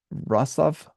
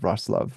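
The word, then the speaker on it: Wrocław: um uh oh uh rosov I think is how you say this uh it looks like R claw but it's like rosov or something like that um but uh anyway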